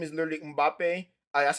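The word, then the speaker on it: Mbappé: His name he was Yeah, his name is Mbappe, bro, Mbappe. bro. I don't know if I I was pronounce it right, but I know his name is literally Mbappe.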